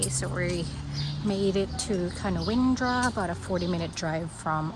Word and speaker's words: Canowindra: Canowindra.